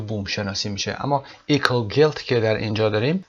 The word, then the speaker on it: eco: در این درس که ایکو گیلت هست، ایکو تلفظش رو دقت داشته باشید، ECO ایکو گیلت هست.